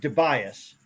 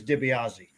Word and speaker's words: DiBiase: glad to be here fellas oh man I pronounce it Tobias Tobias the correct Italian pronunciation is DiBiase along the way uh got Americanized so you